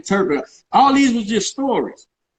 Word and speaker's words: Turpin: He would tell me about Ray Robinson going to France and learn and losing to Tarpon. How you say his name? Turpin.